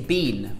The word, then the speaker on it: been: mate or pronunciation again americans say bin where have you been where you been in england we say bean we pronounce b like b where ya been like the same as we pronounce seen or uh spleen we pronounce bean like b en where have you been